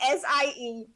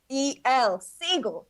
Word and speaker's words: Siegel: it's me siegel that's s-i-e-g-e-l siegel not to be confused with c goal the species to which i belong but you could tell that from the difference in pronunciation siegel seagull thank you for having